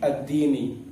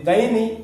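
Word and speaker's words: الدِّين: Jadi cara bacanya ini fi akhdhi ad-dini. Kalau fi akhdhi daini beda, dainun utang.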